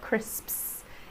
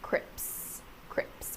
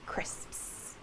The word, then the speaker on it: crisps: you that one uh crisps is a notoriously difficult word for Learners of English it's the SPs sound at the end crisps you yeah yeah